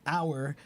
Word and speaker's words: hour: And in this case, the word hour, it's kind of a funny thing here. It says, let's see, the H has persisted in this word despite not being pronounced since Roman times.